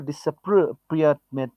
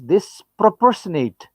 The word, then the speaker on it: disproportionate: almost certainly have a disappropriate disappropriateness deep this proportionate not only appropriateness that's not the pronunciation is disproportionate impact on the poor